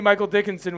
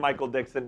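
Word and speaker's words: Michael Dickson: Hey, that's that's Texas legend Michael Dixon to you. Oh, I said his name wrong. I'm sorry. Michael Dixon.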